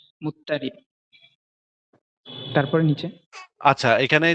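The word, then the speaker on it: مضطرب: প্রচলিত উচ্চারণ অনুসারে মুজতারাব লেখা হয়েছে। অন্যথায় নিয়ম অনুযায়ী এর সঠিক উচ্চারণ হবে মুত্তারি।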